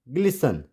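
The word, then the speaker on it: glisten: लिखना तो हमें टी पड़ेगा लेकिन इसको प्रोनाउंस नहीं करेंगे, लिसन। वैसे इट्स फासन, नॉट फास्टन, फासन। एंड इट्स ग्लिसन, ग्लिसन।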